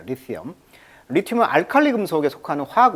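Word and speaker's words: lithium: 근데 영어식 발음은 이제 리티엄 이렇게 발음하네요. 리티엄. 자, 리티엄. 자, 리티엄. 발음을 좀 조심하시고요. 영어식 발음은 리튬은 한국식 발음, 영어식 발음은 강세가 이음절이 있습니다. 그래서 리티엄 이렇게 발음하고 있습니다. 리티엄.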